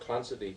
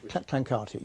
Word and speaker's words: Clancarty: Now, you mentioned Lord Clancy in your book, and information which... Clancarty, yeah. Oh, is that how it's pronounced? Yes, sorry, it's all right, yes.